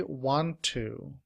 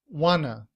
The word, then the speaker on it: want to: But in reduced form, we do not say want to. Instead, we say wanna.